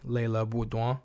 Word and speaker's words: Leila Beaudoin: I had originally butchered Alicia Bombgardner's opponent's name, Leila Budwa, and I wanted to make sure that I got that right.